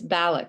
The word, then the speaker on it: Balloch: It's Balloch, sorry.